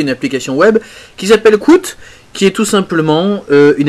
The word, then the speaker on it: Kwout: Et Qt est d'une certaine manière la prononciation avec laquelle on prononce le mot anglais quote, qui veut dire citation. Et comme vous allez pouvoir le voir, Qt vous permet de faire des choses assez intéressantes.